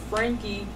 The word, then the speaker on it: Franke: A lot of people, say Frankie. Okay, right. So Frank, right. You got it.